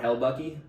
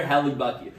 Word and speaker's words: Hellebuyck: It's Connor, but the last name is spelled Hellebuyck. This is Connor Hellbucky. No, I'm just kidding. It's like Connor Hellebucky.